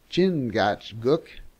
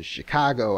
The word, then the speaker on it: Chingachgook: for instance one of his acute Indian experts chingachgook pronounced in Chicago I think has lost the trail of a